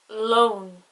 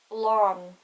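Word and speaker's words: lón: and irish pronounced glor another example lunch loan if those words didn't have the father on the o it would be like glor long the o would be much softer and not as emphasized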